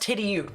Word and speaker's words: Tidioute: Tidioute, so it's pronounced Tidioute.